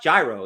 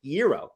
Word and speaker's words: gyro: was saying it wrong it's not gyro it's hero hero silent Mike did you know